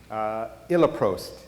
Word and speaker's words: Iloprost: And in Britain, Iloprost, I think that might be the correct pronunciation, is a common nebulized prostacyclin that is used more in Britain and in Europe.